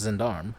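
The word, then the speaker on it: gendarme: it looks like um uh jindar mein uh zandarm yes so it's pronounced zindarm zindarm uh is an armed police officer in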